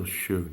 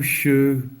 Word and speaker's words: Suge: His name Suge, pronounced Suge, derives from Sugar Bear, a childhood nickname.